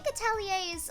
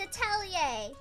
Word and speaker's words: atelier: I think ateliers are generally a place of creating things, yeah. Yeah, you're very confident about the pronunciation. I am. It's atelier.